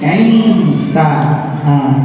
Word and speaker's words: Isa: Ibu, cara nyebut nama Nabi Isa jangan tertukar dengan nama sholat Isya. Bahasa Arab ini beda cara baca, beda arti. Kalau nama sholat Ain, Shin, Hamzah, Isya. Kalau nama Nabi Ain, Ya, Sin, Isa. Beda-beda. Jangan sampai salah.